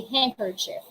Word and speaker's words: handkerchief: We say handkerchief. We don't say sandwich. We don't say sandwich. Pronounce na pronounce hindi. It's sandwich. We say Wednesday, handsome, handkerchief, and sandwich.